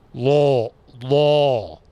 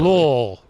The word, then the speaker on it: Louisville: Pretty sure it's Louisville. Lowell. You got to have a little molasses in the mouth. Yeah, Louisville. Yeah. You're insulting them. I'm just saying it properly. Lowell. I'm not insulting anyway. That's how you say it.